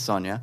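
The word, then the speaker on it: Sonya: It's Sonia.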